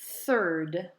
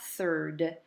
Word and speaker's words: third: Et en anglais, on dit one third ou a third. Bien important le TH, encore une fois, de le prononcer comme le the qu'on a appris, vraiment la langue entre les dents. Alors, one third, qui est le 1 tiers.